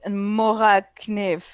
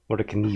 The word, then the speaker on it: Mora kniv: Actually, I'm pretty sure in Swedish that would be pronounced kniv. Actually, no, it's David, so it'd be David kniv. Says Mora kniv. Mora kniv.